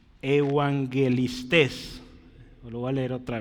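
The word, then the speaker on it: εὐαγγελιστάς: los evangelistas y y Cómo se pronuncia Esto es evangelistes lo voy a leer otra vez evangelistes otra vez ahí va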